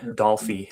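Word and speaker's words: Dolphy: And it samples 17 West by Eric Dolphie and Advice by Sly and Family Stone. So yeah, Dolphie is the way that one's pronounced.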